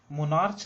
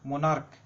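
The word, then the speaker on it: monarch: मोनार्च नहीं पढ़ते हैं, इसको उच्चारण क में होता है, मोनार्क।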